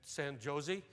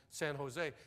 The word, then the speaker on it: San Jose: to Elan and and San Josie she said out here we pronounce that J like an H it's alcohol and San Jose how long you going